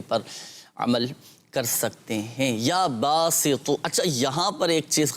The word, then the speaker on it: یا باسط: چیز قابل غور ہے، اب تو اور تا دونوں میں فرق کرنا ہے۔ یا باسطو، اب یہاں پر تو ہے، اب ہوتا ہے بعض اوقات جن کے تلفظ درست نہیں ہوتے، تو کی جگہ تا پڑھ لیتے ہیں، یا باسطو یا باسطو یا باسطو، یہ غلط ہو جائے گا۔ پڑھیں گے یا باسطو، تو حروف مستعلیہ میں سے ہے اور اس کو پر پڑھنا ہے، موٹا کر کے پڑھنا ہے۔ تو کوئی بھی وظیفہ